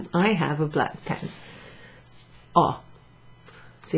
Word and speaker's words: ho: have a black pen oh so you don't pronounce the H I I own a